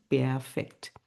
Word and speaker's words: Perfekt: ইংলিশে পারফেক্ট, আর জার্মান ভাষায় হচ্ছে পেয়ারফেক্ট। পেয়ারফেক্ট।